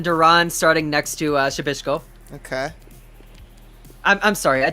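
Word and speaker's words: Przybyłko: right with that yeah you kind of skip the p and go right into the sh and then uh i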